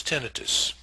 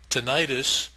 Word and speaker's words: tinnitus: heard in the ears my preferred pronunciation for this word is tentis tentis would be spelled with an I like dermatitis or arthritis would mean inflammation the inner ear includes